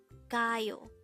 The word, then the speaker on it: 가요: number 266 k k this is pronounced as a two syllable word the first syllable is GA second syllable is Yu pronounce it with me c CAO the word CAO simply